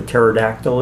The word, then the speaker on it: pterodactyl: never tell if a pterodactyl is in the bathroom I do not know why you can never tell if pterodactyls are about fit because the P is silent ladies and gentlemen come